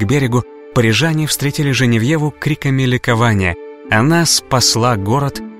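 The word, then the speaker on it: Geneviève: парижскую святая гена vefa более известна нам как же не в его так произносят ее именно родине во франции в переводе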